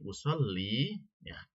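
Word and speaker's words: أُصَلِّيَ: an dan di sini usolli ya. Kalau tanpa ada an maka dibacanya cukup usolli tanpa diberi harakat yanya. Karena ada an maka dia berubah menjadi usolliya ya.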